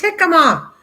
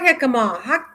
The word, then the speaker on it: jicama: g he ha comma i know the j is pronounced with the h a very crunch mild apple taste misha that's it that's what i'm talking about it's jicama that's it that's what